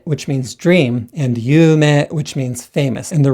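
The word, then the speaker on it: 有名: And dream, yume, this is 2 beats and also 2 syllables, yume. However, yume, this is also 2 syllables, but 4 beats.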